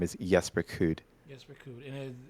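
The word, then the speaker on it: Jesper Kyd: Jesper Kuhd, or as most Americans would say, Jesper Kid. Jesper. Okay. But Yes. but the proper pronunciation of his name is Jesper Kuhd.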